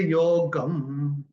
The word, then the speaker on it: योगं: इमं विवस्वते योगम, ऐसे आएगा। ग के ऊपर अनुस्वार चरण की समाप्ति पे आ रहा है तो इसका उच्चारण केवल और केवल म ही होगा।